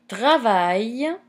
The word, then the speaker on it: travaille: A phonetic point here, in French language, the double L is pronounced as a long I.